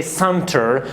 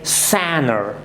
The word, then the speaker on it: center: For example, you have to see, do not say center, but say Sanner.